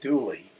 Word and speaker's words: Dula: Tom Dula, pronounced Dooley, in the hills of western North Carolina, was born in 1844 in Wilkes County, North Carolina.